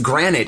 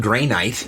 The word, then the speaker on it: granite: to pronounce it right it's granite it's not gray night gray night or gra granite the vault of which